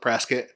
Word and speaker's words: Prescott: But everyone here calls it Prescott. Yeah, for sure. Like biscuit.